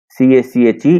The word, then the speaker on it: cache: CACHE, it is pronounced cache.